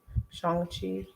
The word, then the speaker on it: Shang-Chi: I think I'm saying it right. It's like Sean, but with a G. Shang-Chi.